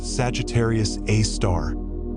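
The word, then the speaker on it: Sagittarius A*: Our central resident is Sagittarius Asterisk, pronounced Sagittarius A star.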